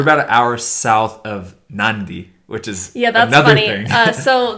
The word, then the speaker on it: Nadi: which is yeah so the city that we flew into is spelled na di and we were calling it Nadi and everyone's like what are you talking about ivy and then one of